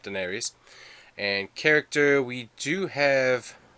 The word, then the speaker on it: denarius: And that's correct how you pronounce that, denarius.